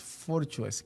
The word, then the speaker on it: Forchues: apellido, porque en realidad el apellido es Forchues, que se pronuncia y que se escribe así, también se escribe Forchues y así mismo se pronuncia.